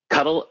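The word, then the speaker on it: kubectl: do you pronounce it I say Coop CTL okay okay cuddle cuddle just makes me think of cuttlefish and it's kubernetes and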